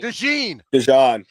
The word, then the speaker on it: DeJean: We're getting Is it pronounced DeJean? Is it DeJean or DeJean? DeJean.